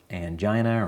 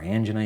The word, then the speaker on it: angina: So that will cause angina or angina, you can pronounce it either way, which is pain associated